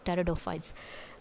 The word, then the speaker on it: pteridophytes: Okay, so the first true land plants is pteridophytes. Pteridophytes, pteridophytes. Actually, you should not say, P is silent here, so you have to write Pteridophytes, pteridophytes.